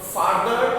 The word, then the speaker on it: farther: You have to give pressure for far.